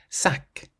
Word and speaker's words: sac: Sack. Sack. This means bag. So, it ends in a C and you pronounce it sack.